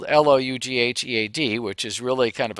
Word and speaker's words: Loughead: The names of those companies included Martin, Lockheed, spelled Loughead, which is really kind of a Scottish or a Scotch-Irish name.